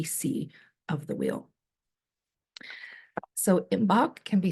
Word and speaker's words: Imbolc: Seasons that we see of the wheel so imbach can be spelled a few different ways um I typically spell it i m b o l c you